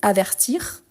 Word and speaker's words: avertir: Ici on dit avertir. Donc j'entends le r à la fin. Ici averti j'entends le i.